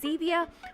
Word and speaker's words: Xevia: items and of course xevia rhymes with stevia so that is what